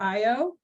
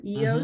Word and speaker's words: Io: give an advertisement for Io or EO sometimes pronounced um that is the volcanic moon of Jupiter.